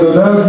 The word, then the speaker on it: Deneuve: Deneuve, Michel Barberio, c'est bien ainsi qu'on prononce votre patronyme, vos patronymes respectifs.